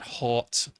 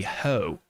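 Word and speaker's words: haut: where where it went it's not halt it's actually I I can't find the description but um apparently the word should be ho ho and ba so it's either hot or ho hot I don't think I'm saying it right I think it's ho H Au u t is of course pronounced ho um I'm just going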